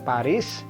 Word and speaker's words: Paris: di bahasa Inggris Paris Nah kalau di bahasa Perancis sendiri huruf s di ujung itu seringkali tidak bunyi jadi ini kasihan banget dewasa jadi pari ada esnya tapi esnya nggak bunyi Aduh kasihan banget ya